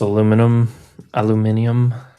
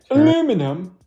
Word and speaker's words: aluminium: Reduced aluminium, for those that like to say it correctly. Aluminum. Aluminium.